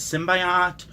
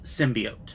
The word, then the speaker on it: symbiote: just drove me crazy I think she says symbiotic symbiote or she messes up the pronunciation the word is symbiote that is the agreed-upon pronunciation that's Merriam Webster's pronunciation I took a poll